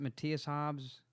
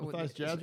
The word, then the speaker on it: Matthias Jabs: Is it Matthias Hobbs? Oh, You know what I'm talking about? Yeah, yeah. Matthias Jabs you're it's not talking the Schinker guy. It's the other guy. Jabs. Matthias Jabs or whatever his Jabs name is.